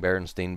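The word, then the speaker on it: Berenstain: was sta IN and it was pronounced Berenstein because it's a German name and in Germany when you have two vials together the second does the talking so I started reading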